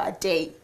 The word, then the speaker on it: Adey: Okay, so is it pronounced ADEY or ADEY? It's ADEY because it's got the Y at the end, so it's...